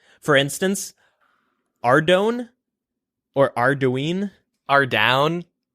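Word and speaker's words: Ardougne: Ardown. Ardown. For the longest time, I used to call it Arregon, which is not even close to how you pronounce that word.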